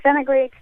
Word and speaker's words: fenugreek: love to hear about this natural booster so fenugreek can be used a lot of dishes and